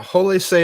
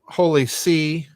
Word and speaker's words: Holy See: with and um what does it imply wow holy say is pronounced say yes and people pronounce it uh Holy See it's the say not you know say David